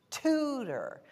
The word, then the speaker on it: tutor: is it tutor well when that o r right tutor when it's not in the accented syllable tutor then it's going to be ER right doctor tutor why didn't you teach me that and then I wouldn't say doctor right and then when it is in the accented syllable then I'm going to say or like in corn the same thing with